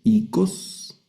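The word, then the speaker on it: οἶκος: La siguiente palabra la vamos a leer icos, que es casa. Vean que hay una forma de cómo se escribe y otra forma cómo se lee, cómo se pronuncia, ¿no?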